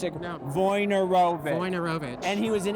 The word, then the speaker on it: Wojnarowicz: Wojnarowicz. Wojnarowicz. Yeah. I have been reading that name for 35 years, and I've never pronounced it. No. Wojnarowicz.